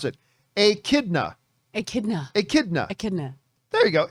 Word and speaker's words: echidna: And by the way, everybody in the live chat is trying to tell me how to pronounce it. Echidna. There you go. Echidna.